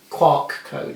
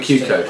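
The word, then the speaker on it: QR code: you've got the little, I always say it wrong, it's quark code, isn't it? The digital code. Oh, the Q code.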